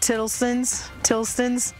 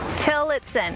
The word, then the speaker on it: Tillotson: The Tilstons, I always mispronounce their name. Don't put that on. She'll say they're the best people around. Yeah. Tillotson. Yeah, we get Tillotson a lot.